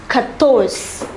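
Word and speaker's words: quatorze: is pronounced tres tres the number 14 is pronounced katos kattos the number 15 is pronounced as cans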